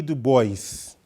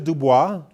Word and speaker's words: Du Bois: Du Bois. In French, it's Dubois, but he pronounced it Du Bois, right?